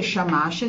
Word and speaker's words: Shamash: Allora, si dice Shamash, si scrive Samas in cuneiforme, ma a noi non ce ne importa, è giusto per avere una chicca.